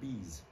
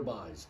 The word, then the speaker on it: Bies: In Dutch, his name is pronounced Bees. However, everybody and his uncle in the Hagerstown area says Peter Bies, so that's what we still say.